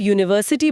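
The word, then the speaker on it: university: क्योंकि जब आप यूनिवर्सिटी बोलते हैं तो पहली आवाज यू की आती है। य की। जैसे येलो में होता है।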